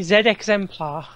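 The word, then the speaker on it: Z-Exemplar: Pronounced properly, Z Exemplar, as in ZX.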